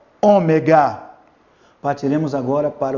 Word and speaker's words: ômega: Ele é representado pela letra O, mas é um O forte, como tivesse um acento circunflexo nessa letra, O. Repita aí, O, ômega.